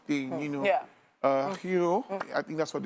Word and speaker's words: gyro: you know yeah uh hero i think that's what it's called um um it's a greek like like a greek shaman basically yeah it's called g-y-r-o it's not pronounced gyro so you have things